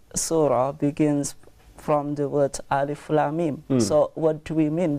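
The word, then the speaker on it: الم: they are individual letters we just pronounce its / Utley so we cannot say for instance a limb or Allah but we put on it spiritually we say Alif Lam Meem so what does these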